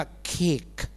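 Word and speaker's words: cake: เช่น c a e คน ไทย พูด คำ นี้ ว่า เค ถูก ไหม คะ แต่ ฝรั่ง พูด ว่า เคก เคก นิด นึง ต่อ ไป ตัว ไหน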